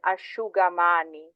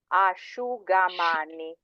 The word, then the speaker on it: asciugamani: So whenever you see an SCI, it's a sh. So it's a sh sound.